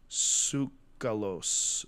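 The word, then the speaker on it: Tsoukalos: k a l oos I think the T silent yeah sucos sucos maybe sucos Georgio sucos and he's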